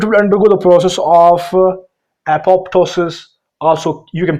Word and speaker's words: apoptosis: So it will undergo the process of apoptosis Also, you can pronounce this word as apoptosis.